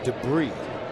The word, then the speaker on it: debris: I always kind of like that term debris. Oh, is it bottle caps and broken glass? What's in there? And it ends with an S and you don't even pronounce it.